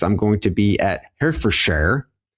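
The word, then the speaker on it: Herefordshire: going to be at Hair for Share. I don't know if that's how you say it. I'm new to this European thing, this European thing. If you're American, the way that it's spelled and the way that we would say it is Herford Shire, uh, England.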